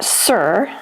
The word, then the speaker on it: tsur: The Hebrew noun sir, spelled t s u r is often translated as rock or stone.